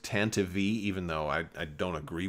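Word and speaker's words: Tantive: the chance to be for some units it's pronounced Tantivy even though I don't agree with that pronunciation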